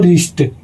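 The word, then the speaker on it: wrist: अगला है दोस्तों रिस्ट। तो दोस्तों इसमें जो आर जब शब्द आया है और आर के तुरंत पहले डब्ल्यू आ गया है तो इसमें भी दोस्तों डब्ल्यू साइलेंट हो जाएगा तो यहां पर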